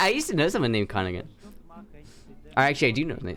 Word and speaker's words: Königin: And how do you say the O with the 2 Königin. dots? So it's aw. It's Königin. It's Königin. That O with the dots makes an aw?